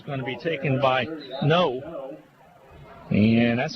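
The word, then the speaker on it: Ngo: Big ball carrier straight away head running is going to be taken by No. And that's how his name's pronounced. It's like N-O, and No. Spelled N-G-O, but it's pronounced No.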